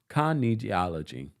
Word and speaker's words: kinesiology: thank you Mama Ali Mama Ali says it's pronounced geology thank you meaning physical motion of the body I.E physical education thank you Kinesiology there we go I probably will not remember